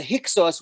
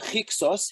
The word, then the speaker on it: Hyksos: So the Hyksos, which is a mispronunciation, you can see a Greek pronunciation of Heka Chasut, which means basically foreign